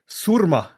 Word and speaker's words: Surma: even if you can't roll the R, it's Surma.